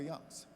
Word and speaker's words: Youngs: And her last name is Youngs, not Young.